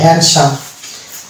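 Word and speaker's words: handsome: অনুসারে আমরা ডি কে বাদ দিলাম দিয়ে এটা উচ্চারণ করলাম হ্যান্ডসাম নেক্সট পার্ট হবে এসে দন্ত সয়ে যখন আকার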